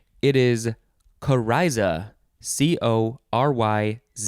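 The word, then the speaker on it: coryza: a name okay next word it is kariza c-o-r-y-z-a kariza noun from 1634.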